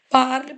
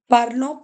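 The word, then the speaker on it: parlent: Parle, parle, parle. Parlons, parlez, parle. Some of the students pronounce this as well, parlons. No, it is par. ENT is the silent. Don't pronounce it.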